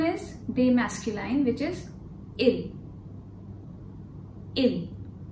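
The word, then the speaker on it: ils: be masculine which is ill in S is silent now the next one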